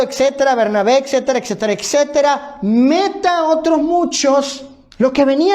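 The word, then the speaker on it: μετά: interesante esta pre posición es conocida y se pronuncia como meta meta así es la preposición griega que es traducida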